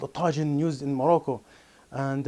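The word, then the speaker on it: Tajine: this is called Tajin I'm going to pronounce this correctly it's called Tajin and not Tajin a lot of people on in the west they call Tajin so this is a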